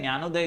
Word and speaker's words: ज्ञानोदय: ये डी जो है यहां पर साइलेंट है, ज्ञानोदय इसे आप कह सकते हैं।